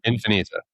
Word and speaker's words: Infinita: How do you pronounce it? Infinita.